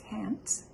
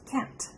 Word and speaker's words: can't: so many different languages when you're saying can't you don't stress the a so much can't but you have to pronounce the t can't i want to hear